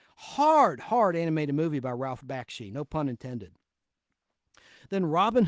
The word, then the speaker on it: Bakshi: By the way, his name is pronounced Bakshi, and it's spelled Bakshi.